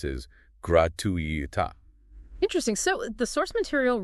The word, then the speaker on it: gratuita: Apparently, the Minister of Education pronounced it incorrectly, stressing the gratuita.